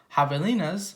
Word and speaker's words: javelinas: Javelinas, pronounced Javelinas, are wild, hairy, southwestern cousins of pigs.